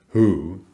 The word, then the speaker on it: who: The spelling W followed by H is usually this unvoiced consonant, but of course there are exceptions. Who is just pronounced who.